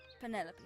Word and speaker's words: Penelope: Officially, yes, but I never can be bothered with all 4 syllables of it. Penelope sounds a little ostentatious coming out of the mouth, don't you think?